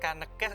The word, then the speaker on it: Kanekes: masih membahas mengenai suku Kanekes atau kita kenal dengan suku Baduy gue masih penasaran Sonic Kanekes Kanekes gue berasal nomor hutan kita Eh itu ada yang dibaca eada Ini bacanya Kanekes diperbaiki boleh-boleh ngetik gitu